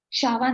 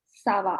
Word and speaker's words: ça va: Shava नहीं, Sava.